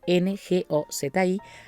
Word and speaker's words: Ngozi: Ngozi se pronuncia con la boca cerrada, Ngozi, Adichie, como se pronuncia.